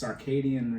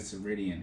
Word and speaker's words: circadian: It's circadian rhythm. I don't know how to say it. Circadian. But, yeah, that's the internal clock. I said Ceridian. It's not Ceridian.